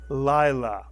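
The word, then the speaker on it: לילה: is inside a word this word is pronounced Lila mitsu Lila it means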